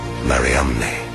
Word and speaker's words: Mariamne: the first name in the inscription the unique mariamne never found before or since on any other ossuary in the acts of philip mary magdalene's name is spelled m a r i a m n e mariamne mariamne the same woman as mary of magdala